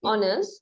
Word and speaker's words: honors: honors Awards tit Hors honors honors H is silent okay okay Awards honors